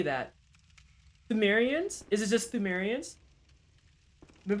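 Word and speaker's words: Pthumerians: Thumerians? Is it just Thumerians? Been playing Danky Souls 2? A good old Soulsborne Saturday. Good old Soulsborne Saturday. Yeah. You don't say it? Don't say what? Oh, the P.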